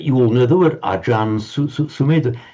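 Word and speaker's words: อาจารย์: So acharya in Thai they pronounce as ajan. That you all know the word ajan sumedha. It's in fact just the Thai way of pronouncing acharya.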